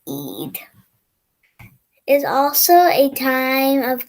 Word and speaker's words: Eid: Muslims celebrate the end of fasting and through prayers give thanks Eid, pronounced Eid, is also a time of giving to others.